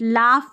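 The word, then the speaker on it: laugh: लाफ में GH फ, night में GH साइलेंट है, ऑलरेडी मैंने बता दिया है।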